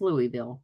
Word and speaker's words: Louisville: say the name but in Louisville or Louisville yeah it's Louisville right that's how you say it yeah I was